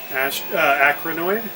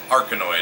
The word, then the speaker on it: Arkanoid: Acronoid? Arkanoid. Arkanoid. Always mispronounce that The one.